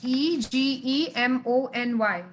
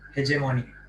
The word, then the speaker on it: hegemony: i had asked you how you can pronounce the word h h-e-g-e-m-o-n-y isn't it hey money it's hegemony okay all right i'm not